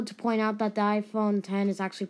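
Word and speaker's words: iPhone X: Oh, and also to point out that the iPhone 10 is actually pronounced it's called the 10, not the X, because if some of you are still, calling it the X, then yeah.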